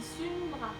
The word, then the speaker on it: Sundra: C'est pas Sandra, c'est Sundra. Pardon, j'ai mal prononcé.